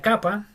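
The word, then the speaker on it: κάππα: Tenemos la capa, que es igual a nuestra K. Capa se dice. Y se pronuncia como una C, como en casa.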